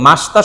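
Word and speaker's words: ました: তার মানে আরিগাত গোজাই মাসিতা হবে না মাসতা হবে?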